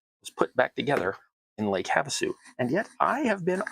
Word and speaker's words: Havasu: Anyway, and they pronounced it Lake Havasu, and I'm like, meh, okay, you didn't ask anybody at all, because everybody knows it's Lake Havasu.